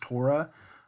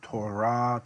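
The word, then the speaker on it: תּוֹרָה: you probably I mean modern Hebrews gonna pronounce this as Torah but in Biblical Hebrew the accent is on the last syllable Torah tour throat teaching law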